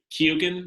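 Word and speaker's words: Keoghan: like a the Barry is it Barry kugan I think is how you say his last name the guy who is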